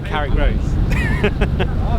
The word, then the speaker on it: Carrick Roads: Out into the Carrick Roads.